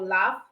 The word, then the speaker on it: laugh: You can have also GH for laugh, PH for dolphin.